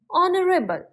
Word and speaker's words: honorable: o an honorable man here also H is silent and it sounds like like honorable and air H is